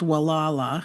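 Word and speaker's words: Gualala: Um, and at the very top of it, north of it, is a little town uh called Wala. It starts with a G, but it's pronounced with a W.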